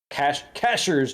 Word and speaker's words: Cashiers: down to um cashier cashiers they call it not cash it's spelled cashiers Cashers North Carolina right um which is